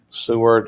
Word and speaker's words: Seward: edgar county watchdogs we're going to talk about seward as i pronounce it s-e-w-a-r-d township uh in kendall county